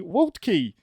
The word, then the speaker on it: Waltke: his last name correctly waltkey that's absolutely correct that's the american version of a prussian last name that has way too many consonants in it so well done as